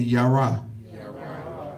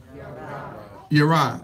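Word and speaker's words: ירא: Y'all say that with me, Yara. Say it again. Yara. Yara is spelled Yod Resh Aleph.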